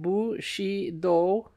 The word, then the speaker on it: Bushido: understanding feudalism and Bushido footnote pronounced bu she do in putting Japanese words